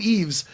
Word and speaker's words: Yves: I've been calling him Yves forever. What do you know? Why are you high fiving? You got it right? silent. He said it's silent. The S is silent.